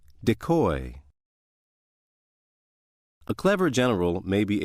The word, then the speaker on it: decoy: If word six is being used as a verb meaning to lure into a trap, it is pronounced decoy. Decoy.